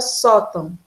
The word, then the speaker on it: sótão: Então, eu tenho aqui a palavra sótão. A sílaba acentuada aqui é a sílaba só. O tão não é acentuado, já que tio não é acento. Se você tapar o nariz, só tão. Tape aí, veja.